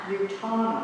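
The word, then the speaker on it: Utanna: I didn't even pronounce that close. Utana.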